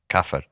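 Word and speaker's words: كافر: Kafir. Kafir.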